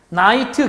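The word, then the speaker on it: knight: 똑같아 세상에 그 다음에 나이트 기사 밤 나이트 기사 다음에 반응이 앞에 k 는 또 묵음 이나 다름이 똑같아 얘는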